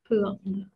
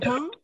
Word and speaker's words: thượng: Thượng. Nên mới đọc là thượng nè hay là chữ thướng, thượng hay thướng đều được hết ha.